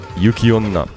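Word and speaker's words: yuki-onna: wrong no uh you it has a pause in fact when you write out oh no it's like this it's like that uh so there's there's a little pause the key yukiona Ona would be something else entirely unless there's something other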